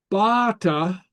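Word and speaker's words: bàta: So, and it changes the meaning. A couple examples. Bata would be stick. Bata would be a boat.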